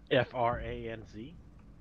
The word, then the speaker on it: Franz: fevers anymore so France is it France or France fr ANZ pronounced at the German way it's from faults Franz